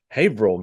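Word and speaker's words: Haverhill: Well, and um Fage reported back that we mispronounced the name of the town. It's Haveril, Massachusetts.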